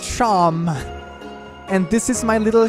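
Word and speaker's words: Seam: about yourself the names seem okay like Shawn pronounced Shawn and this is my little shop do you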